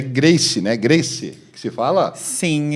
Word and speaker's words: Grace: Grace, que se fala? Sim, ele se escreve Grace e ele se lê Grace.